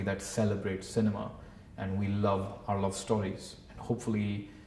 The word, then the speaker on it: Loev: in the same way the title only looks different but it's just love that's how it's pronounced it's just